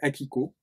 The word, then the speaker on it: Akiko: Sa deuxième femme s'appelait Akiko, comme ça se prononce.